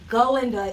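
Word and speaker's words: Galinda: they run into Belinda that's not me pronouncing her name with a weird accent I am from Philadelphia but I just speak perfect English golinda is the character's name and her name is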